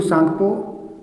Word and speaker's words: सांगपो: जो भ्रंश मिलेगा सिंधु सांगपो सांगपो में टी साइलेंट होता है इसलिए टी होगा सिंधु सांपो सचर जोन यहां पर